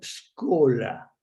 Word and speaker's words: Scola: era el cardenal Angelo scola se escribe Así como se pronuncia es cola cardenal Angelo scola podría